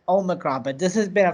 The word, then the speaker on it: Omicron: Omicron is serious. At my job, we don't say Omicron. We call it Omicron. Omicron? Apparently, that's the official pronunciation that a South African doctor gave it.